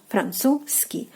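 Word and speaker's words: французский: So, Z sound you're basically omitting. You're like Franzuzski. Like you're like jumping over the z sound and like going Francu and right away to ski. Francuski.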